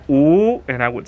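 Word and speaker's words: 五: And I would put 5 fingers up, and in Chinese, 5 is pronounced "oo," and I would say "oo."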